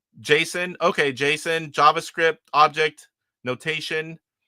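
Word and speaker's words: JSON: I do the best I can, but Luis G says in television gamer you can pronounce as Jason.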